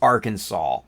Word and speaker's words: Arkansas: Oh interesting Bailey says it is illegal to mispronounce Arkansas in Arkansas I know it's Arkansas it spelled Arkansas come on okay come on